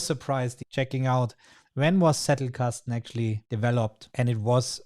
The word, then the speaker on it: Zettelkasten: And for those who know, well, Zettelkasten, it's Zettelkasten. It's a German word. And as I'm German, I think I can say it in this pronunciation as well.